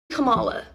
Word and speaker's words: Kamala: So yeah, I'm voting for Kamala. All right, we're back on the same page. It's pronounced Kamala, though.